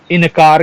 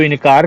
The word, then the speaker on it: इंकार: कि सम्मुख ठीक है इनकार कर दिया उसने तो इंकार कर दिया क्या इंकार कर दिया अरे इनकार नहीं इंकार पहले तो आप जो शुद्ध बोलना सीखिए कि इंकार किया तब तो बात मानेगी वो जब गलत शब्द बोलोगे तो कैसे मानेगी या मानेगा इंकार होता है ना कि इनकार सुर पखा के बारे